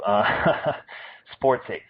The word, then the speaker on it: SportsEh: And it's spelled as it would sound with the EH, Canada, A, the stereotype. SportsEh, SportsEh.